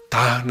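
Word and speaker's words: taṇhā: Tana es una bella palabra, no solamente verla, sino pronunciarla. Tana es t a n h a t.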